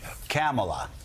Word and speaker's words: Kamala: Let's work on it. Kamala.